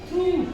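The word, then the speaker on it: through: है साइलेंट है true T एच आर ओ य जीी एच इसको हम बोलेंगे थ्रू थ्रू बोलेंगे इसको जी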